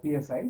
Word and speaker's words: psi: So this wave function psi, so it is normally pronounced as PSI psi.